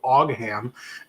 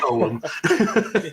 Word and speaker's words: Ogham: product on a video and I called them Ogham, and they were like, yeah, that's not how you say it. It's Ogham.